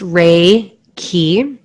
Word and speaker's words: Reiki: make you feel safe Reiki is pronounced ray key so ray means universal